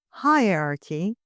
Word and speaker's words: hierarchy: Look at the word hierarchy, pronounced with a weak H. So you hear it, but you hear it slightly.